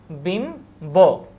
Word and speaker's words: বিম্ব: দেখো, ব অথবা ময়ের সাথে বফুলার যুক্ত হলে বয়ের উচ্চারণ অবিকৃত থাকে। যেমন লম্ব, এখানে আকার হবে না, এই যে এভাবে হবে উচ্চারণ, লম্ব, বিম্ব প্রভৃতি, বিম্ব, বিম্ব।